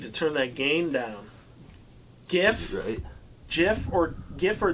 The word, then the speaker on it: GIF: i've always said that gif that gif it's a g like a good go yeah like a good ghost yeah if he wanted